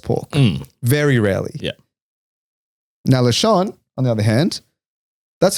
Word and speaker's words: lechon: Now, lechon, on the other hand, that's not an everyday item. Yeah. Pronounced lechon, by the way.